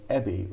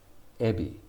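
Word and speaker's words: えび: the japanese love shrimp i was saying ebby rather than heavy ebby so ebi is shrink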